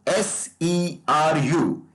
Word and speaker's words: SERU: So SERU, S-E-R-U. It will be pronounced as SERU in future.